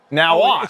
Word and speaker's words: Now Watch: Now watch. It's pronounced now watch.